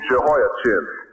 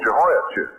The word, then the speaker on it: Jehoiachin: Now this man Ezekiel was taken captive about 596 BC with King Jehoiachin, or Jehoiakim. It might be pronounced either way, probably more correctly with the K sound instead of the CH sound as we use it.